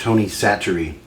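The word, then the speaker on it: Tony Chachere: I've heard it's pronounced Tony Satchery.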